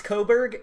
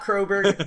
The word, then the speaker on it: Coburg: It's Coburg, not Croberg.